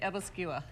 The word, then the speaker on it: æbleskiver: that it's real okay some people do say abel skivers but we have always said ebola skewer evascula yeah okay i'm